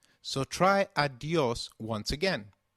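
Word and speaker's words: adiós: Did you notice the accent on the O in adios? If a word is marked with an accent, then that syllable receives the stress. So try adios once again. Adios.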